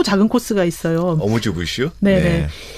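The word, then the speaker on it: amuse-bouche: 예, 그래서 네이버에서 아뮤즈 부쉬 이렇게 한번 쳐보시면 프랑스어 발음이 나옵니다. 아뮤즈 부쉬 이런 발음이 나오는데, 네.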